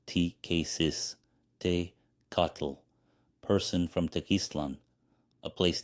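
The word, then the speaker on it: Tecuciztecatl: Tequistecatl pronounced T-K-Sis, Te-Catl, person from Tequistlan, a place name meaning place of the conch, boastfully said, "I will be the next sun.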